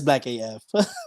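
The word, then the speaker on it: #blackAF: they actually play the whole thing no it's black af black af okay no i i read it last and i was like i i think it's black af yes on netflix um he's been featured in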